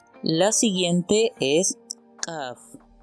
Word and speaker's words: Kaf: La siguiente es Kaf. Esta, cuando tiene el puntito, su sonido es oclusivo, y cuando carece del puntito es fricativo. Por lo tanto ya no decimos Kaf, ahora decimos Jaf.